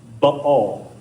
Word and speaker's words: Baal: that word is pronounced Baal, which is a little more accurate to the way they would have said it back then, and it's a lot more fun to say, frankly.